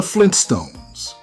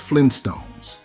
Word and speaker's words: Flintstones: Most people pronounce the title quickly as Flintstones, dropping that first T. Over time, it solidified in our memories that way, but the actual spelling has always been the Flintstones, like Flint Rock.